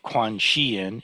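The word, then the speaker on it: Guanshiyin: So Quan Xiyin is the Chinese pronunciation, Kwanseom is the Korean pronunciation, and Kanzeon is the Japanese pronunciation.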